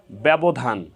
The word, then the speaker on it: ব্যবধান: এখানে একারান্ত উচ্চারণ হয়েছে সহজভাবে বলতে গেলে যদি শব্দের প্রথম বর্ণের সাথে জ ফলা সংযুক্ত থাকে তাহলে সেই বর্ণের উচ্চারণে সামান্য শ্বাসাঘাত পড়ে এবং একারন্ত উচ্চারণ হয়ে থাকে অ্যা একারন্ত উচ্চারণ হয়ে